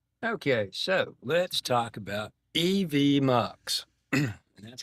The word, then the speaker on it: EVMux: So, let's talk about EV mucks. And that's how it's pronounced. EV Mucks. It's actually stands for Event Multiplexer is what it stands for actually. EV Muks. M. Muk. M. Muk as in multiplexer.